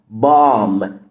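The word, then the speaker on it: bomb: ارب ارب كلمه بام بام قنبله الام لما بقى جاي بعدها بي البي بتبقى سايلنت يبقى هنا البي سايلنت فبنقول بام بام بام بام عندنا كمان كلمه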